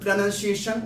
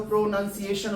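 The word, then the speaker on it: pronunciation: जैसे कुछ लोग उसको पी आर ओ प्रोनाउंसिएशन वगैरह पढ़ देते हैं। प्रोनाउंसिएशन वगैरह बोल देते हैं। But that is not your correct way टू प्रोनाउंस you know that particular word.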